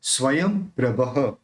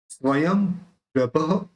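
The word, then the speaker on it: स्वयंप्रभः: स्वयं प्रभः, यहाँ पे ये जो बिंदी है उसका म प्रोनाउंस होगा, स्वयं प्रभः। ये जो विसर्ग है उस विसर्ग का ह निकलेगा, स्वयं प्रभः प्रभुर्भोक्ता।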